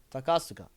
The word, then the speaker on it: Takasuka: Pretty sure in Takaska's case you say all the syllables. No, damn. That is news to me. Okay. Takasuka.